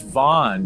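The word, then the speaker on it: Vaughn: pronounce his last name not Vince Young Vince Von there we go I am just like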